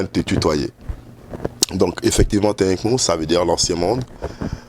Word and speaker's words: Tinhï Kmou: Et comment ça se prononce? C'est Tinkamou. Tinkamou, c'est l'ancien monde, comme tu viens de le dire.